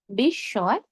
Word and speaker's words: বিস্ময়: আবার বলছি, শব্দের শুরুতে, মাঝে, শেষে যেখানে মফলা যুক্ত হোক না কেন আমরা ময়ের উচ্চারণ করব না। তবে শব্দের মাঝে বা শেষে যদি ম যুক্ত হয় তাহলে যেই ধ্বনির সঙ্গে ম যুক্ত হয়েছে আমরা সেই ধ্বনির দ্বিত্ব করব। আর দুই ক্ষেত্রে আমরা কি নাকি স্বরে উচ্চারণ করব।